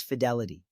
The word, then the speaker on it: fidelity: You want to pronounce it like the fi in the word fit.